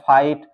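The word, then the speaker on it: fight: गया इसी तरह है फाइट फाइट में आप देख सकते हैं आ जी एचटी साथ में आया है तो यहां पर भी जीएच साइलेंट है फाइट इसी तरह है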